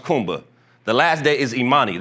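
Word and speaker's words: Kuumba: Day six is creativity which is pronounced kumba.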